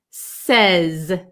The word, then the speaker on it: says: says with an S at the end we pronounce the S sound says says and it's like an a short e